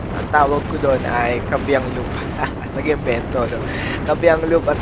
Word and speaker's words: Kaybiang: kabang tunnel hot dogs ang iba pronunciation doon kabangang pero yung akin kabang kasi nga mas madali i-pronounce so sa na kit siya